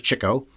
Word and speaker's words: Chico: so here's Cho and it's pronounced that way because it was all about his love of the ladies the chicks of course that's not his real name anyway he loved the chicks so he's Cho I always thought it